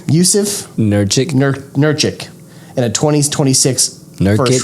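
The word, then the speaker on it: Nurkić: Nurkic.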